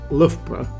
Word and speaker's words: Loughborough: either keep practicing it and soon you'll be pronouncing LPR like a local and remember make English fun